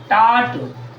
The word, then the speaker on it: taught: टाट, TAUGHT, टाट। यहाँ देखो बच्चों ध्यान से देखना, यहाँ भी GH है, GH जहाँ रहेगा बच्चों वहाँ ही साइलेंट रहता है।